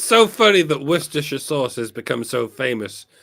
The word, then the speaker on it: Worcestershire: You can do that with Worcester. Just say Worcester. If you want to pronounce Worcestershire sauce, just say Worcestershire sauce.